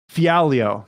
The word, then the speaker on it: Fialho: Michel Pereira, and I got to hear the pronunciation of his opponent. Fialho.